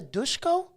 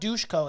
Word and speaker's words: Dushko: you hear that the dushko dushko it's not doucheco it's dushko but i'm like that's it's so weird there's no h there so i don't understand why we're pronouncing it nonetheless i don't know